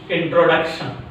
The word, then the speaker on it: introduction: What is the second syllable from the end? 1, 2. Here E, tro. Here D. D is the stressed syllable. Introduction.